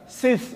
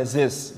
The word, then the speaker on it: Sis: Sis itu seperti nama putranya Nabi Adam alaihissalam, itu nama Arab. Sis bin Kasan Besari, tapi karena salah tulis pakai Z gitu ya, sampai sekarang dibacanya marga Zis gitu.